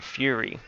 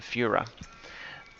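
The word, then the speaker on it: Führer: mispronounced it um and calling him the fury rather than the fuhrer and even though the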